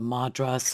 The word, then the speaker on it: madrasa: were building mosques and madras. Madras. That's I knew I was pronouncing that wrong for some reason.